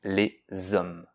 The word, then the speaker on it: hommes: Ici, on t'a fait pratiquer la différence entre le H aspiré, comme dans hibou et haricot, sans liaison, on dit les hiboux, les haricots, et le H muet, comme dans homme, on dit les hommes.